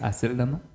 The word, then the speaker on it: Aceldama: O Aceldama, no sabemos cómo se pronuncia. Te digo que es Aceldama.